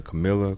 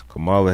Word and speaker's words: Kamala: House where uh I always I always miss mispronounce her name Camila Cala Cala Kamala Harris exactly is it I think it's C